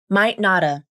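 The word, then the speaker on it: might not've: You use the same pronunciation as might not have, but you also drop the final V in of, which sounds like might notta.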